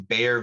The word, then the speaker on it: Baeyer: it's called the um bear villager oxidation uh and interestingly enough bear that's the same bear as bare aspirin it's not spelled the same because it's been anglicized but bear that first synthesized